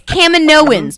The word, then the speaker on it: Kaminoans: Yeah, and Jake, we know how to say it. It's Kaminoans.